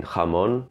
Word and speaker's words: jamón: In jamón, the h is pronounced further back, h, because the vowel is a back vowel.